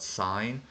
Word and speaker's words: sine: so the word sign this is not pronounced sin but sign so actually I'm going